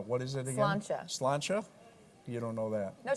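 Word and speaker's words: sláinte: And you said but some cheers, of but you it should have said slancha, right?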